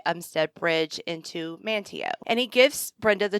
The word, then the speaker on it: Manteo: it right every time it's manteo but you might hear me mispronounce that for the longest time i thought it was manteo but it's manteo okay yeah i pulled